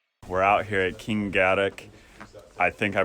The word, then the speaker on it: Kingarrock: We're out here at Kingarrock. I think I pronounced that right, Kingarrock. So, been working on that just for y'all to pronounce it properly. Didn't want to, I kept calling it Kingarrock, if I'm being real.